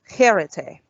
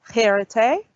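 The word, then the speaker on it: χαίρετε: So this is pronounced cherete. So let's say it again. It's cherete. It's a bit of a strong H sound, cherete.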